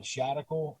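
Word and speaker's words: Shadical: personal profile it's uh shadocle and so it rhymes with the radical and it's replacing the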